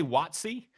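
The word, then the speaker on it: WotC: do you say that how do you say the acronym oh I say watt see yeah we say wrong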